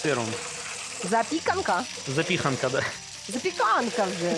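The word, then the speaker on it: zapiekanka: запіханка з сиром запіканка запіханка да запіканка вже ж запіха в польській мові же ж на передостанній слог ставляться наголос так у польській запіханка сиром тоді запікан запікан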